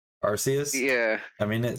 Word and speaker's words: Arceus: first pokemon just so you know it is pronounced archais okay if i'm just i by wiki definition